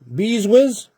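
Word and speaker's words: Brzustewicz: Beeswitch. Beeswizz. There we go. For the Calgary Flames.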